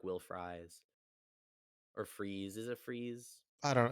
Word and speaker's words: Fries: It It's spelled is just like French fries. Yeah, fries. yeah. It's definitely fries.